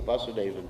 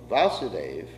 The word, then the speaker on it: Vasudeva: the andaka dynasty so you actually see the vasudevan devaki came from the same dynasty the under